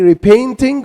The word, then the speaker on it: repainting: So, and this word here can be repainting or repainting. Some Americans, or like some Americans say repainting. They don't say the T here. Repainting.